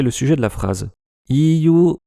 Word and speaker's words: EU: Iyu, oui, il prononce ça à l'anglaise, est en alphabet latin, ce qui est courant pour ce genre d'abréviation prise à l'anglais.